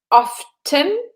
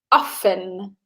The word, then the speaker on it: often: Jess says often, and I would say often. Okay, with the T, but the T would be silent.